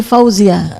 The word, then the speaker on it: Fauzia: saya tadi bilang ti Fauzia ti Fauzia iya ti Fauzia ya bukan ti Fauza kan tadi saya si